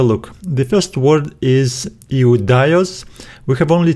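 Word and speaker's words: Ἰουδαῖος: We have I, U, Dai, Os. And we need to stress this syllable because it has an accent right here. Iudaios, iudaios.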